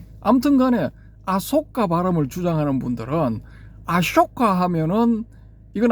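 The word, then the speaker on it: अशोक: 요런 케이스를 어디서 볼 수 있느냐 하면은 아쇼카 대왕 여기서 볼 수가 있는데이 아쇼카라는 그 표기를 원어대로 할 것 같으면은 대반화거리를 보면은 쇼가 맞거든요. 쇼 소가 아니고 쇼 쇼 할 때 그 앞부분 그이 자음 부분 요런 발음이거든요.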